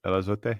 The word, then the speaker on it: El Azote: Part 3 is called El Azote. Is that right? El Azote? Yeah. Is that the right pronunciation?